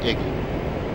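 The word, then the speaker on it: EGI: gps ins or dti often pronounced iggy the iggy integrates a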